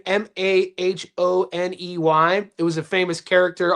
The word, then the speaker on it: Mahoney: They pronounce it in Australia like it's spelled M A H N Y. Many.